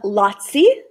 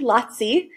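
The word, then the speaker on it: lazzi: lines would change um lotsy okay kind of rhymes with yahtzee lotsy um were comic bits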